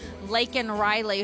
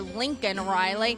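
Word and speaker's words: Laken Riley: nursing student in Georgia lakan Riley who Trump uh I'm sorry Joe Biden can't even say her name correctly he calls her Lincoln Riley he doesn't care if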